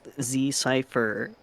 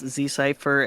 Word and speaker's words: Zcipher: It is pronounced Zcipher. One way you can annoy me is by getting my name wrong. It's Zcipher everywhere there is internet. Literally decipher but with a Z, right?